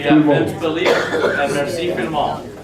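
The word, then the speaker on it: vielmol: Merci Filmol. And the V is pronounced with an F.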